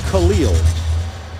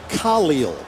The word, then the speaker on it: Khalil: Not Khalil. It is Khalil. Emphasis on the Ka.